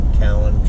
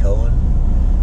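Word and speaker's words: Cowen: And now I just booked a load out of Perrysville, again from Cowan Trucking. Apparently I've been pronouncing that wrong. I was calling it Cohen. Apparently it's Cowan.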